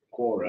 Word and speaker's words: Quora: Kiora, is that how you pronounce it? That's where it got that from. Is that where it Quora?